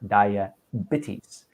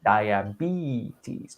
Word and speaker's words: diabetes: and beeties i heard dia bitties it's a long e diabetes not diabetes and there might have